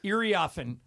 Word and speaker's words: Iriafen: So this player that plays at USC, Kiki, how do you pronounce her last name? Iriafen.